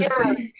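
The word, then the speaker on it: Jörg: I think it's pronounced Jorg. Hey. Might be I've been George. smiling about this for days now. You're Jorg. Yeah, it rhymes with Kirk. Kinda.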